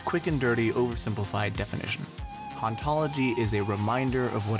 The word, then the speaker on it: hauntology: In the original French, it's a pun, because it sounds like the word for ontology, ontologie, whereas in English, it sounds like you're no fun at parties.